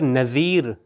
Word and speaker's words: نذیر: اگر نذیر ذال سے ہو نذیر تو وارنر کے معنی میں ہے، یعنی ڈرانے والے کے معنی میں ہے.